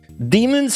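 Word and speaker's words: daemons: Demons have claws. I thought that was demons, which is how you're supposed to pronounce that word that you put in your game, which is D-A-E, but I suppose you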